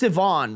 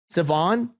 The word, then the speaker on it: Siobhan: It's pronounced Sivan, right? The only reason I know that is I think This is the name of the gal in Succession, right? Siobhan?